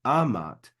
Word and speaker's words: amat: form Amat Amat and remember when we have a two- syllable word the first syllable is always accented so it's Amat and we see that